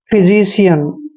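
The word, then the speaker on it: physician: की मात्रा पढ़ते हैं और ए एन का उच्चारण यन करते हैं फिजीशियन फिजिशियन होता है दोस्तों चिकित्सक यानी कि डॉक्टर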